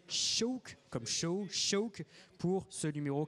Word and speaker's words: Seabhac: cycle est ici prononcé choc comme choc pour ce numéro 49 choc s'écrie seebach et ça se prononce donc choc ça veut dire faucon en gaélique un jeune étalon 1